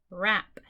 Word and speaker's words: wrap: When you see W-R-K-N-G-N at the beginning of a word or syllable, the first letter is silent. Okay, this word is wrap. This word is knit. This word is gnaw. Okay, the silent letters mean the W, the K, and the G. All are silent.